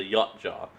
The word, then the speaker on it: Yautja: It's pronounced a Yachtjaw. I guess some people could pronounce it as a Yachtjaw, Outjaw, however you did. But I've always heard Yachtjaw.